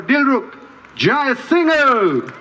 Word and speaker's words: Dilruk Jayasinha: Would you kindly put your hands together for Dilruk, Jayasinha? Thank you very much. Thank you. This might be the first time in my career of 10 years in Australia that the MC got the pronunciation correctly.